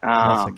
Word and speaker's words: Melsik: Melsik, yeah, we got that covered.